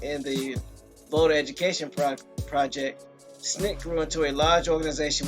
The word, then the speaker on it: SNCC: So, the Student Nonviolent Coordinated Committee, often pronounced SNCC, was one of the major American civil rights movement's organizations of the 60s.